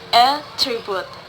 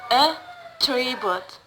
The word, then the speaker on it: attribute: If attribute become a noun, the word stress in the first syllables, attribute. And if the attribute is become a verb, the word stress in the middle, or the stress falls on the second syllables, attribute.